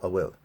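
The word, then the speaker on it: an bhfuil: And then we get the question, unwill, or a will. It's just how you pronounce it.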